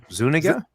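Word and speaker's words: Zúñiga: by daphne zuniga and you also have zuniga zaniga now i'm screwed no zuniga because on the commentary mel brooks actually said how he had messed up the pronunciation and then she had her she had to correct him on the correct way to say it now dot matrix sim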